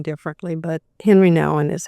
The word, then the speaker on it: Nouwen: called The Way of the Heart with Henry Nouwen.